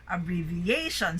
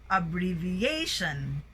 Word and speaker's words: abbreviation: Okay, now we have the words with a primary stress on the fourth syllable and the secondary stress on the second syllable, okay? Abbreviation, so the rising of your voice is done twice, okay? Abbreviation, accentuation, administration, affiliation, alleviation,